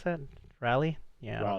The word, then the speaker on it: Raleigh: Raleigh. How do you pronounce that? Raleigh? Yeah, I don't know. Raleigh.